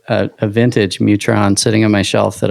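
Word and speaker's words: Mu-Tron: I've got an old like a vintage Mutron sitting on my shelf that I swear someday I'm gonna fix.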